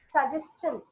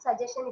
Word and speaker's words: suggestion: also matters for example suggestion actually many offers will pronounce even the educated people would pronounce it as suggestion it is not suggestion it is suggestion and it is not